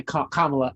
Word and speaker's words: Kamala: um the president kamala did i say i said camilla didn't i kamala as a jamaican male i should not like i should be pronouncing her name right and i'm over here